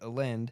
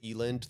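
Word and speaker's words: Elend: I pronounced it Elind the whole time I was reading because I didn't want his name to sound like Ellen. I didn't want to see Ellen. So I said Eland.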